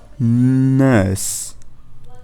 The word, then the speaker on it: nurse: So I want you to take the N and put it in front of the thinking sound. So we're going to go N. N, and then just put the S sound at the end. Nurse, nurse. Okay, can you hear? There is no R involved.